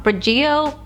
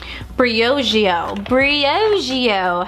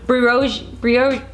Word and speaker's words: Briogeo: Oh my god, I always say this name wrong. Berigio.